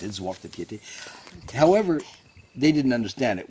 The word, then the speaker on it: Zwarte Piet: they still celebrate me arriving with my student, Zwarte Piete, as they pronounced it, Zwarte Piete.